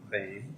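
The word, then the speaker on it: Boehne: the record please certainly my name is Payne and that is spelled b-o-e-h-n-e okay and I'd like to just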